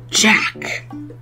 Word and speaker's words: Jacques: It's pronounced Jack Town.